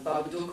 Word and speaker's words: Babadook: my head, and then, in English, Babadook rhymes with book and look and all these words, and I thought, I like it.